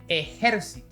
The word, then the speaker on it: ejército: Ejército. Ejercito. Ejercitó. We have three: Army, Work out and Worked out. That's right, by just changing the accented syllable we even have 3 different meanings.